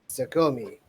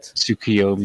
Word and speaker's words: Tsukuyomi: And the bottom left would be Rowan, and that would leave the top being Sakomi. I know I mispronounced that horribly. Checking my notes to get it right. Tsukuyomi, yeah. Tsukuyomi.